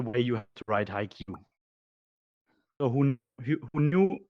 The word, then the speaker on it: HIQ: you guys get it so phonetically spelled this is for you roland where are you i guess he hears it high q so it's high like high and q like the letter q oh now back to